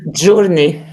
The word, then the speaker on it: journey: If you have EY, I have to pronounce it as E. Money and what? Journey.